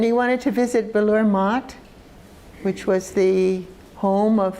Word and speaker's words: Math: Means it's M-A-T-H, but it's pronounced M-A-T, Math, which means monastery.